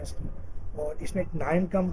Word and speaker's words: KNIME: Data science का introduction लेंगे, applications क्या क्या है इसकी, और इसमें एक 9 कम टूल लेंगे, के साइलेंट है, KNIME, रैपिड माइनर देखेंगे, गूगल बिग क्यूरी ML देखेंगे हम।